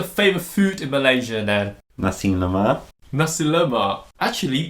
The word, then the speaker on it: nasi lemak: so what's your favorite food in malaysia now nasi lemak actually pronounced it very popular nasi lemak no i didn't make it more english sounding say nasi lemak how would you say it nothing nasi lemak yes do you know what it means literally